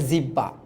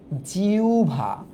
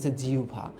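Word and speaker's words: জিহ্বা: বলতো হ্যা অনেকে বলে জিব্বা জিভা জিব অনেকে আবার এক্সট্রিম পর্যায়ে যায় হ্যা কোনটাই হয় নাই এটা জিবলা জিবলা এটার উচ্চারণ কি জান এটার উচ্চারণ হচ্ছে জিউভা জিউভা এটার উচ্চারণ জিউভা এইযে এই মূর্ধন্য ব্যঞ্জনগুলো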